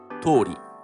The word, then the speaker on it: とおり: Additionally, when the noun is directly placed before the phrase tori, the pronunciation changes from tori to dori. But when the particle no is placed before the phrase, pronunciation remains tori.